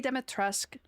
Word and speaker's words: Dimitrescu: And then there was a great debate of that's not how you actually say it in like the game Dimitrescu. They pronounce the U at the end.